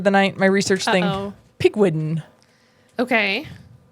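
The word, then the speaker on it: Pigwidgeon: Pigwiden. Okay. Pig wigon. Pig wigijon.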